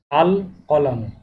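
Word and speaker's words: القلم: এখানে লাম উচ্চারণ হবে স্পষ্টভাবে, আল কলামু।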